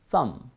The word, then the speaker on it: thumb: 그러나 오늘은 아무도 발음하지 않습니다. 그래서 어떤 분들은 그래도 살짝 해줘야 되는 거 아닌가? No, don't. 왜요? 발음 기회 없어요. 발음 기회 없으면 발음하지 않습니다. 가볼까요? thumb.